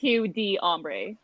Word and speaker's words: Hugh d'Ombre: I like it better when it's Hugh d'Ombre. Like it's two syllables.